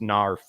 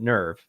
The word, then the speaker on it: NERV: people are like, it's technically supposed to be pronounced "narf" like that or something like that. And I'm just like, well, the Japanese pronounced it "nerve," so that's what they were thinking of when